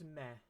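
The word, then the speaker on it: み: off in the comments and this character is me it looks a lot like new remember new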